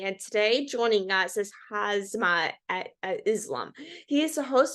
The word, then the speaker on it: Hamza: a common thing that I get, but it's pronounced Hamza. You said Hazma. I knew Hasmi. I was gonna get around. Sorry about It's that. yeah, it's you're good. It's Hamza.